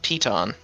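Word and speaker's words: Piton: It's obviously French. It's pon. Oh. Uh, according to Google, the pronunciation is Peton.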